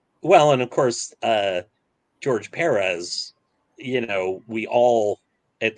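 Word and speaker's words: Pérez: the beginning were oh george perez yeah um and there's still people doing it that's like nope it's perez emphasis on the first syllable that's why there's a little tilde on it yeah it's still it's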